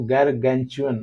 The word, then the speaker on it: gargantuan: अब ये कह रहा है फ्रेंड कि माउंटिंग अनदर, इसका जो प्रोनाउंसिएशन है और मीनिंग में बता रहा हूँ, वो गैरगैंचुअन। गैरगैंचुअन मीन्स होता है कि विच इज इनॉर्मस, आप यूं कह ले बहुत ज्यादा, बहुत विशाल, राइट।